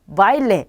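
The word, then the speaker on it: baile: 그럼 둘 중에 강모음에 강세가 오겠죠. 그럼 바로 여기에 강세가 오는 거죠. 그러면 읽으실 때 바일레 이렇게 읽으셔야겠죠.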